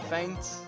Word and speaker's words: Feint: Will not work in most situations, so we're gonna give up on Feint. Even though it's spelled with an E, even though it sounds the same.